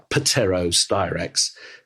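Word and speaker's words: Pterostyrax: of a pain but it's Tarot styrax with a silent P so it's pateros directs and thus the species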